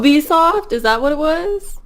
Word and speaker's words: Ubisoft: I would go Ubisoft too, like Ubisoft or Ubisoft. Not even Ubisoft. Ubisoft is wrong.